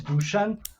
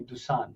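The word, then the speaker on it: Dušan: It's Serbian name, it's Dusan, but in Yeah. the US everybody calls me Dusan because it's Oh, Dusan.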